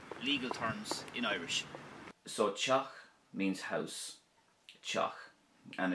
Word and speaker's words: teach: So Chock means house, Chock, and it could also be pronounced Tig as well, if you want.